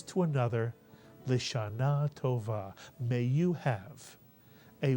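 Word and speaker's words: לשנה: Remember, the shva under the lamed is pronounced because it's under the first letter of a word. And therefore the first syllable would be Lisha, Mitsuyan. And the second syllable? Na, Mitsuyan. Put the word together. Lishana is correct.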